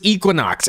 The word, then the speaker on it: Equinox: Oh, it's Equinox.